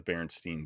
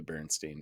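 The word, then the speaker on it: Berenstain: being pronounced like here's the correct way to pronounce it I don't know man could be but I swear I read the baron Steen bears as a kid instead of the baron stain bears but guess that's not the case but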